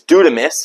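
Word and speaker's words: δύναμις: The Greek word for power is, and I may chop it up a little bit, is, I believe it's dunamis, is the way it's pronounced.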